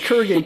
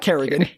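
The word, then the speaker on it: Kurgan: Corgan gotten the prize Kuran k u r g a n Kuran Kuran not krian not corrugated Kuran sorry Kur Kuran no no there's no a it's Kuran Ken two syllables that was really hard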